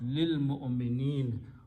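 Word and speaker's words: للمؤمنين: When you stop, you pronounce lil mu'minin, for the believers.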